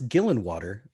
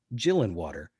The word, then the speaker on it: Gillenwater: our good friend lance gillenwater pronounced with a hard g not like jill and water and the reason i